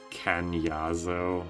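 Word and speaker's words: Kainazzo: It's pronounced Canyazo.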